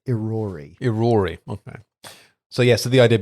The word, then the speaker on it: Irori: I believe it is pronounced Irori.